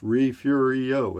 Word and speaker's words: Refugio: Yeah, it looks like refugio, but it's pronounced refugio.